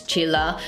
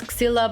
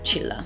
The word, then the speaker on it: Csilla: description, my name is Csilla, which is a Hungarian name, surprise, surprise. And the most I can help you with pronouncing it is that it's like the end of chinchilla, so that's basically how you need to pronounce it.